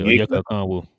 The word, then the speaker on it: Onyeka Okongwu: Yeah, Onyeka Okongwu.